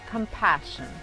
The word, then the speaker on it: compassion: Por ejemplo, compassion, profession. En este caso, la primera S es muda y la segunda S junto con la I se pronuncia como la SH del inglés, como en la palabra shy, por ejemplo.